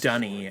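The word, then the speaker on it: D'ni: missed lore uh dunny it's spelled d apostrophe n-i um but yeah it's pronounced dunny for some reason um that is actually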